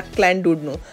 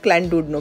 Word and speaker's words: Llandudno: और जनाब मैं मौजूद हूँ यहाँ पर लैंडुडनो बीच पे। इसे एक्चुअली मैं प्रोनाउंस कर रही हूँ एज अ लैंडुडनो, बट the British and द वेलिश people, mostly the वेलिश people pronounce it एज अ क्लैंडुडनो, double L pronounce as